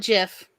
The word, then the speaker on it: GIF: he was so particular he won everybody call it jiff it doesn't make sense to be called it doesn't make sense it's a gift i know it's spelled like gift it is yeah but you